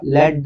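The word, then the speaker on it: lead: ಈ ಸೆಂಟೆನ್ಸ್ ನಲ್ಲಿ ಗೋಲ್ಡ್ ಅಂದ್ರೆ ಚಿನ್ ಚಿನ್ನವು ಸೀಸಕ್ಕಿಂತ ಲೆಡ್ ಅಂದ್ರೆ ಏನಂತ ಮೀನಿಂಗ್ ಬರ್ತದೆ ಸೀಸ ಅನ್ನುವಂತ ಮೀನಿಂಗ್ ಸೋ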